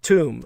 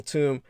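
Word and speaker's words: Tomb: And for those of you who don't know, you can look up Colonel Toom. The name is spelled like the grave edifice, T-O-M-B. T-O-M-B.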